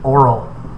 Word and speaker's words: Oral: And his oldest son was named Oral, like Oriole the bird, but pronounced and spelled a little differently.